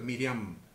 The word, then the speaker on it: Miriam: es Miriam o Miriam para ser más concreto es Miriam acentuado en la última sílaba Eh entonces el pacto